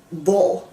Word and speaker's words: hvor: The mute H is usually in front of a J or a V. For example, all our words like when, where, why, hvor, hvornår, hvorfor, always has a mute H in front of them.